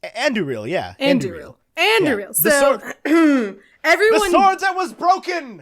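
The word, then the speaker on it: Andúril: in the movies and i know how rob english pronounces it but they're they're the same it's like it's andrew reel yeah everyone that was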